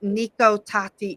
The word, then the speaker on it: Nico Tati: so you are the owner of your company Niko tati design did I pronounce that correctly yes what is nikota design